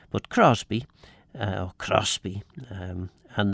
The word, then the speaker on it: Crosby: Uh and that would be pronounced Crosby in in uh certainly all the old monks speakers all the old mans people that I know talked about Crosby.